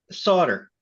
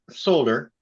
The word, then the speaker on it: solder: Okay, now solder or solder, as with many of the differences between American English and how you say it in the UK, it's actually a side effect of the US sticking with an older pronunciation.